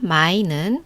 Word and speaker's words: 买: 사다 마이는 삼성이고 팔다 마이는 사성이에요.